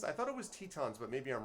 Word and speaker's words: Tetons: if i'm not mistaken and i'm am i pronouncing that right is it tetons or is it titans i thought it was tetons but maybe i'm wrong please correct me if